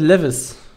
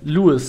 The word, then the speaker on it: Lewis: Ach genau, da hat irgendwie einen Kommentar geschrieben, der heißt Lewis, also der wird so ausgesprochen, bin ich der Meinung. Der heißt für mich Lewis. Also Levis, Lewis, weißt du, so wird es ausgesprochen, so ist es einfach.